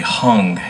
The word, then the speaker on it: Hang: that I played with him is called a hung h-a-n-g spelled like hang but pronounced tongue it's from Burn